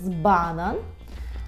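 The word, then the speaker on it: banan: наприклад банан банан так зверніть увагу наголос банан Бо бо так і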